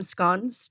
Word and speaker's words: scones: I actually like to pronounce them scones because that's how the British do it.